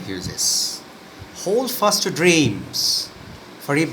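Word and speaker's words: Hughes: এখানে উচ্চারণটি হবে হিউজেস।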